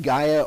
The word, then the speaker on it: Gaia: I use, it's either pronounced Gaia or Gia, depending on who you talk to.